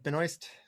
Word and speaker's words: Benoist: Yes, it's Benoy.